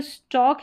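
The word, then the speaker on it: stalk: अब ये जो स्टॉक है ना इसमें भी इसमें भी एल साइलेंट है।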